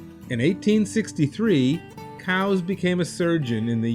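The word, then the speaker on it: Coues: this one it's elliott cows spelled c-o-u-e-s but pronounced by his family cows in 1863 cows became a surgeon in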